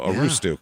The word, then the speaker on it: Aroostook: So a roostuk, it has to be. Or I'm saying it wrong, and I'm sure that